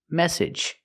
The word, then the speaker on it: message: have three different pronunciations the first word is message this is the most common pronunciation of a two- syllable word with ag g at the endend it's a short sound plus the J like in juice and jump AG message this is